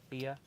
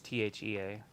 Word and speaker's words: Thea: that Tia or whatever Thea it's t-h-e-a it's the a I think they pronounce it TF yeah I call it the a and it looks like